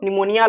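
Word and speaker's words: pneumonia: प्लीरो निमोनिया like organism. PPLO का क्या full form होता है? Pleuro निमोनिया like organism. तो यहां पे पी साइलेंट है। निमोनिया में पी साइलेंट होता है।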